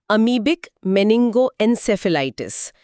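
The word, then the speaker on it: amoebic meningoencephalitis: केरल में एक दुर्लभ लेकिन गंभीर मस्तिष्क संक्रमण अमीबिक मेनिंगोएन्सेफेलाइटिस के कुछ मामले सामने आने से ये सार्वजनिक स्वास्थ्य चिंता का विषय बन गया है। इसका उच्चारण ध्यान से सुने, अमीबिक मेनिंगोएन्सेफेलाइटिस।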